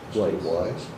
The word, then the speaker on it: Weiss: He pronounces Weiss. Wise. W I S E. Correct. Weiss. Interesting. Not wise.